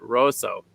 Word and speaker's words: Roseau: Yeah, Roseau. You got to say that right. That's how they say it, Roseau.